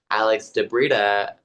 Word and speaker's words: Alex di Brita: And Alex de Brita. De Brita rhymes with Fedia.